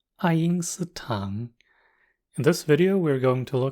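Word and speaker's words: 爱因斯坦: It's pronounced Einstein. It's Einstein. Sounds similar enough, right? Einstein.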